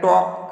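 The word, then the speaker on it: talk: टॉक, L silent है।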